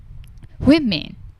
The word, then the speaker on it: women: ဝပြီးတော့မှအနောက်မှာရွှားဆောင်းဆိုတော့ men women woman အဲ့ဒါ singular noun ပေါ့နော်ကကျတော့တချို့ women သူက it အသံကလျှ shop ပဲဒါပေမယ့်သူကနှစ်ခန်းမဝိုင်းတော့ဘူးနှုတ်ခမ်းမဝိုင်းဘဲတချို့တစ်ယောက်ကိုတွေ့ရင်ရယ်ပြတယ်မလားအဲ့လိုနှုတ်ခမ်းကမဝိုင်းတော့ဘဲနဲ့ဘေးကိုကားသွားတာပေါ့နော်အလယ်လျှာကိုအပေါ်အာကောင်မှပဲကပ်ပြီး ပြီးထွက်ရတယ်။ it ဆို